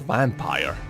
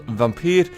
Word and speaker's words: Vampyr: Now why do I pronounce it that way and not vampire? Well, simply because Vampyr is how it is pronounced and written in Norway.